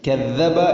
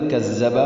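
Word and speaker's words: كذب: അല്ലദീ കദ്ദബ വതവല്ല, ഇവിടെ അല്ലദീ എന്നത് അല്ലസി അല്ലെങ്കിൽ അല്ലദീ. കദ്ദബ എന്നുള്ളത് കസ്സബ അല്ലെങ്കിൽ കദ്ദബ. ചുരുക്കത്തിൽ ദാലോ സായോ ആവുന്നതാണ് ഏറ്റവും കൂടുതലായിട്ട് തെറ്റ് വരുന്നത്. അപ്പോൾ അല്ലദീ കദ്ദബ വതവല്ല അങ്ങനെ തന്നെ വായിക്കണം.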